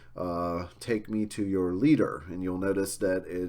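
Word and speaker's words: Lieder: of like a DT or t sound uh leader is the way that you pronounce the plural there um and since Schubert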